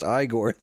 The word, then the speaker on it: Igor: No, it's pronounced Igore.